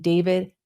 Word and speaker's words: d4vd: He was a 20-year-old rising star in the music world, better known to fans as David, pronounced David, but spelled D4 VD.